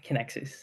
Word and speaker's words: Kinaxis: Did I pronounce it correctly? Eddy Zulkifly and Kinaxis.